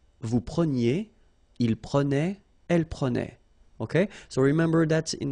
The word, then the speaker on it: prenait: Je prenais, tu prenais, il prenait, final T not pronounced, so the same form.